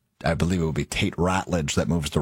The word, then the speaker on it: Ratledge: And then I believe it will be Tate Ratledge that moves to right guard. Ratledge, isn't it? I thought it was Rutledge. Pronounced Rutledge. It's spelled Ratledge.